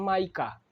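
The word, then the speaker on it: mica: बोला जाता है ठीक इसको प्रोनाउंसिएशन में इसको माइका बोला जाता है ठीक ना मिस्टेक से बोला गया था मीकामीका मीका ना इसे बोलचाल की भाषा में मीका बोल सकते हैं कोई दिक दिक्कत नहीं है। मगर प्रोनाउंसिएशन कीजिएगा तो इसको क्या बोलते हैं? माइका। क्या बोलते हैं इसको? माइका। ठीक? तो वहां सुधार कर लीजिएगा।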